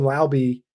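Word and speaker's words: Laube: If they want to split the role, Dylan Lowby, pronouncing it Lowby, that's the pronunciation, out of UNH, shout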